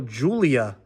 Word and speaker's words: Giulia: I get so much crap told to me because I pronounced that wrong. That time I think I got it right. I always say Gia and they're like, "That's not what it's called."